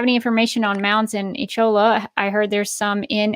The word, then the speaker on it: Echola: Do you have any information on mounds in, I don't know if I can pronounce that, Ecola or Ecola? Echola, Alabama?